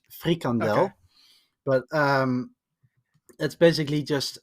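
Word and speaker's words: frikandel: talk thank goodness um my second question is fradel from hert it's it's it it's not pronounced that way but it's it's honestly it's that's way too funny it's just way too funny uh it's it's pronounced frandel but um that's basically just um um how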